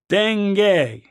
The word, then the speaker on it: dengue: Dengue.